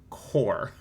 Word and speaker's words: corps: That word is pronounced core.